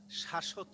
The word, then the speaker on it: শাশ্বত: যে যে শাশ্বত, যেখানে শকে আমরা দ্বিত্ব অর্থাৎ দুইবার উচ্চারণ করলাম, জোর দিলাম, সেখানে হবে ব।